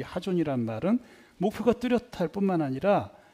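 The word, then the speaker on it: חזון: 요거는 좀 이 H 그러니까 히읗 발음도 센 발음이다. 그래서 이거를 하존 이렇게 발음을 합니다. 근데 뭐 보통 요즘 그냥 하존 뭐 이렇게 합니다.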